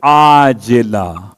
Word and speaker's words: عاجلہ: ایسی نیند کے عاجلہ، وہ جو آپ کہتے ہیں معجل اور معجل عین کے ساتھ، یہ عاجلہ عین سے ہے.